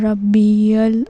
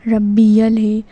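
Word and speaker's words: ربي: सुभान रब्बल अज़म। इस तरह से रब्बिल नहीं है। रब्बियल है।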